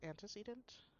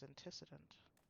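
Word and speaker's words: antecedent: For the longest time, I used to think that that was pronounced anticedant, which that's what it looks like it should be pronounced, but no, it's anticident.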